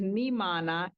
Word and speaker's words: Nhimana: Yes, the name of my ministry is Nimana International. Nimana is spelled as NHIMANA.